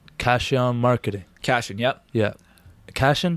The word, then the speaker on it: Cashion: Cashion, that's how I pronounce it? It's like fashion, but with a C.